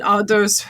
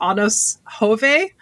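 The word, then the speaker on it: Anders Hove: And Ados, I think it's actually pronounced Anos Hove, who was he was best known before then as Faison, who was the villain character on General Hospital.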